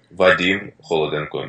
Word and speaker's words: Vadym: so I make sure I say it right Vadim just call me Vadim Vadim but I need